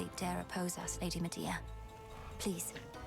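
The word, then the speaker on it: Medea: Lady Media, please. They do pronounce it media.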